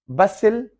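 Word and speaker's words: bustle: बसिल, T silent है।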